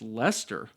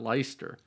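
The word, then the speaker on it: Leicester: Secondly, I mentioned to Charlie that the Lyster in Lyster Square is pronounced Lester and not Lyster.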